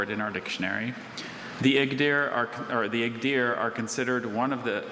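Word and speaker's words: Igdyr: The Igdir are considered one of the original 24 tribes of the Turks who migrated westward across Asia into Persia and Anatolia.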